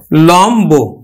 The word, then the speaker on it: লম্ব: যেমন উচ্চারণ হবে কিন্তু লম্ব, আমরা উচ্চারণ করছি কিন্তু এই যে বফলার উচ্চারণটা কিন্তু করছি।